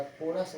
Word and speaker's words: chorus: ठीक है, या कोरस वर्ड याद रखिएगा।